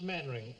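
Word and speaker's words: Mainwaring: sit down thank you actually it's pronounced maning why the devil don't you spell it maning you the LV fell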